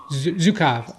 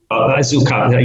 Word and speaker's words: Zukav: Gary Zukav, is that? Zukav, okay. Zukav, yeah. I have to apologize that my pronunciation, as my spelling, has gone out the window living in Italy.